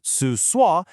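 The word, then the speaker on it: 厕所: They mean toilet and it's pronounced su sua, and just hit search.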